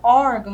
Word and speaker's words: órgão: órgão percebam aqui que na palavra órgão nós temos aqui você tá tudo indicando aí que o ó é mais aberto e também essa sílaba a junção do o com R é uma sílaba tônica mas também temos Aí